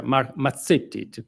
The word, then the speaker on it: Mazzetti: very very nice boughs mark mazzetti or better mark mazzetti to pronounce it add Italian Way is a native Washingtonian